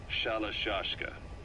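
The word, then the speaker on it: Shalashaska: By the time I got to hearing about it, pronunciation had wound up as Shalashashka.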